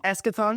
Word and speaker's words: Eschaton: Am I saying that right? Eschaton? Eschaton. I've been saying it wrong this whole time.